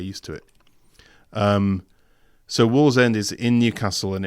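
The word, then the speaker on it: Wallsend: no yeah so this is uh where is Wall's end in terms of uh where you where you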